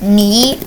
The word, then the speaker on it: knee: brother told me that that's actually pronounced knee, and that the K is silent.